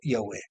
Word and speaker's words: Yahweh: Es porque ya no hay la conexión con la fuente, que es el eterno, que es Yud-Hei Bad-Hei, pronunciado en la mayor parte como Yahweh.